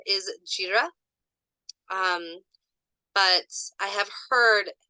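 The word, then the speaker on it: Jera: But it looks like the correct pronunciation is Jira. But I have heard Hera many times when doing research.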